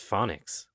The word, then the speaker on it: phonics: No, not hooked on Phoenix. Hooked on Phoenix. Am I saying that right? I think it's phonics, isn't it? Hooked on phonics? Oh, I'm literally reading what you wrote. That says Phoenix. So phonics is spelled with a C, not an X.